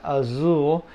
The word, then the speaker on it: Azul: you have Azul and Azul the Z almost like Zoo Azul and then uh that's